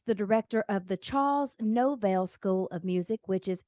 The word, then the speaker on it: Novell: Novell, is that correct? You know what? You did. Apparently, your favorite Christmas song is the first Novell.